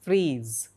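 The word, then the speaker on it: frieze: And freeze, pronounced as freeze.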